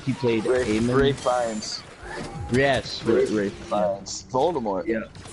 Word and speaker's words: Ralph Fiennes: Ray Fiennes.